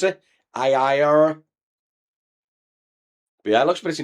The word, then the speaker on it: Ariya: How do you pronounce it? Ariya.